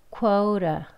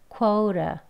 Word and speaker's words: quota: 그렇게 발음을 하셔서 quora, quora.